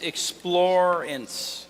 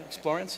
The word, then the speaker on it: Explorance: you next up is explorin explore in I got pronouncing it right right explorance is how it's pronounced explorance are you here